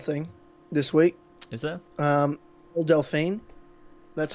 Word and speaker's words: Belle Delphine: Belle Delphine. That's how you pronounce her name.